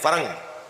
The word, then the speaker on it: فرنگ: مجھے جلوے دانش فرنگ، فرہنگ نہیں فرنگ، فرنگی یعنی یورپی مغربی، فرہنگ سے مراد لغت ہے۔ خیرہ نہ کر سکا